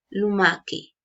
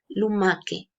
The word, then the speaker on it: lumache: Yo pronuncio esto lumache, lumache. Y lumache en italiano significa caracoles.